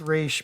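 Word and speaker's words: Ra's: it's actually I mean they say Ross in the movie and there's debate it's it's race but it's yeah but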